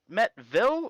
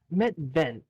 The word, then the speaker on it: Metven: Okay, is it Metville or Metvale? Metven. It's neither.